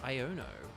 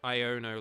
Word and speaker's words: Iono: sword and shield and it's just like pronounced iono like iono or Yono I've just been saying Yono this whole time I I think it's iono I mean it's sort of basically the pun is Ion uh because it's like